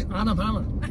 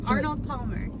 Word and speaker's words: Arnold Palmer: That's why I say Anapama. When you work at a restaurant, you have to learn how to say it. Arnold Palmer? There it is! There. You have to say it slow. Arnold Palmer.